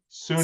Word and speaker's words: SUNY: And from SUNY, is that pronounced SUNY. correctly? SUNY, SUNY, yes.